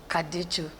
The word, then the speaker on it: Kaducu: My name is Joyce Kaducu. Our Super Soul sister, Joyce Kaducu.